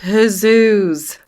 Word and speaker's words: Huzuz: It's pronounced Huzuz. Hit dudes, his The dudes.